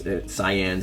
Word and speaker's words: Saiyan: and the reason that the saiyans or scions cyans if you want to pronounce it properly but whatever if uh